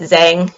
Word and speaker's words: Zhang: And his last name is Z-H-A-N-G. And so sometimes you hear it pronounced Zhang. Like I've had friends who pronounce it that way. It's like my last name, Wang. You know, it's technically Wang, but we're used to kind of mispronunciations. But Zhang is actually how you say his last name.